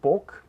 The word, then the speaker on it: bog: So in standard Slovenian, there is no contrast between words like bog, boga, and bog, boka. So they both pronounce as bog.